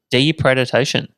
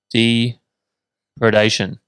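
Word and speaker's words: depredation: know you try you you see what it says d predation oh there you go i knew you were saying it wrong okay i've said it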